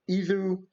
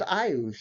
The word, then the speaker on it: Iuz: placed lower or y i you know um IU um no wait a minute no it's iuz yeah that's how you pronounce it I or Y yep anunciation pration